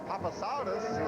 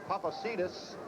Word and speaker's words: Papasidis: Now this ball game is tied, and Papasadis is coming on to try to untie it. The barefoot kicker, the holder, is Bob Simeone. The correct pronunciation is Papasidis.